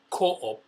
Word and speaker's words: Co-op: It was the first time I really did grocery shopping at this other supermarket called Co-op, C-O-O-P. Although people here pronounce it as Coop.